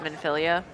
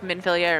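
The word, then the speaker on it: Minfilia: Yeah, I mean, I got it from I think like Thancred pronounces it Minphilia. Like Minphilia or Minphilia, they're kind of both interchangeable.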